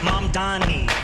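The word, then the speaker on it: Mamdani: The name is Mom Donnie.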